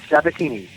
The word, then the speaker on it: Sabatini: your last name very simple just like it's spelled satini awesome perfect I could